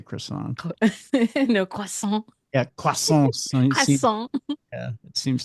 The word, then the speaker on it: croissant: I don't even do the French version of croissant I just say croissant no yeah yeah it